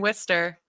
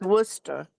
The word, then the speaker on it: Worcester: Wait, so this I thought it was Worcester. Worcester. Well, if I'm saying it quick, it'll say like Worcester, but Worcester. Worcester is like I pronounce my Rs more than others.